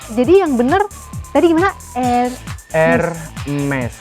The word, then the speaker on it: Hermes: Hermes, huruf H-nya itu agak dihilangin aja, terus R-nya itu kayak pelan-pelan gitu.